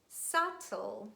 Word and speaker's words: subtle: with the letter b letter b is usually silent when it's followed by letter t and we read the words doubt that subtle but please make sure